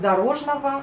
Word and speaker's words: дорожного: Donc on écrit le G O à la fin, mais on prononce le V A à la fin. Et on prononce les A au lieu des O quand on le dit à haute voix.